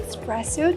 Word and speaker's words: espresso: Fr or foed milk the word is not pronounced espresso I cannot say espresso I like espresso drinks it's e espresso we need that vowel I like espresso drinks